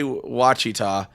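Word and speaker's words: Wichita: I T A you know if that's apparently watchita Kansas was smart and just went no we're just going to spell that how it sounds for most for the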